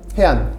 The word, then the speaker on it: HEAAN: 해안.